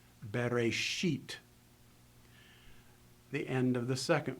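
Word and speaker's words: בְּרֵאשִׁית: So in this particular sentence, if I read it slowly, you would pronounce the inflection at the end of the first word, bereshit.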